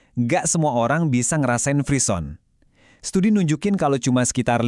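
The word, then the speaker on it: frisson: Dibacanya freeon. Ini istilah dari bahasa Prancis yang artinya menggigil.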